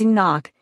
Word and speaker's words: Enoch: One of our great patriarchs also shares the prefix ka in his name when pronounced in its proper dialect. He is called Kenuk but anglicized as Enoch.